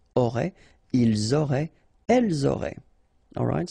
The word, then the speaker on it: auraient: Ils auraient, remember, E-N-T, you don't pronounce it, auraient, ils auraient, elles auraient.